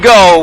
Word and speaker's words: Geaux: telling us the name Geaux? Where'd that come from? Okay, so Geaux actually came from it's a French play. The way it's spelled is a French play on the word go, G-O.